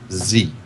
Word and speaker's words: Xi: the Ryla system, and there is a point where it says XI, and the parenthetical right next to it is pronounced Z. Wow. Chris always says Shion.